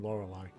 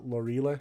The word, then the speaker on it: Lorelei: is the hot librarian lorelei i always pronounce that lorile as a kid because i was an idiot anyway i lead with